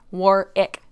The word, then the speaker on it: Warwick: a lot of what warwick's guests have to say warwick sorry i know i always mispronounce it it looks like warwick and my brain says warwick i know it's warwick war ick work i'm just not australian